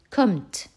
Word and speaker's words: kommt: Kommt. O ouvert, donc deux M.